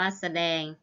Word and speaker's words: แสดง: อ่าน ว่า สะ นัก เรียน จะ เห็น ว่า คำ คำ ที่ คุณ ครู อ่าน เมื่อ กี้ นะ คะ ออก เสียง อะ หมด เลย นะ คะ คะ ด้าน หน้า นะ คะ แต่ ออก อะ ครึ่ง เสียง นะ คะ ออก เสียง อะ กึ่ง เสียง แต่ ไม่ มี รูป